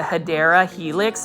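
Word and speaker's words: Hedera helix: correct way to say English ivy is the hadera Helix but this one has a little bit smaller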